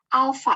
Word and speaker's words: alfa: Alfa, ini dibacanya alfa.